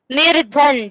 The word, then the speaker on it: निर्धन: I'm not writing r letter, only I'm giving sign, but whenever you are pronouncing you can pronounce r.